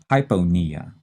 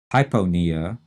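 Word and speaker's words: hypopnea: hyponia e h-y-p-o-p-n-e-a and notice that hyponea we're not saying the p in that second syllable we're leaving it out hypo is said quickly we're used to saying it that way we stress knee and this is abnormally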